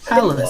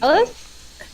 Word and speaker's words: Hallis: Hallis. Steve. Call me Hallis. Hallis. Alice? H-A... Like- I'll type it in for you. Like palace, but with an H? Like this. But yes, pretty much that's the pronunciation.